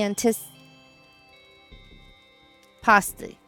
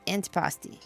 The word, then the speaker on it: antipasti: what's for dinner detective I can't stand the anti py it's antipasti yay big Finn dly who